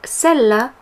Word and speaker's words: celles: But bear in mind that that S is silent.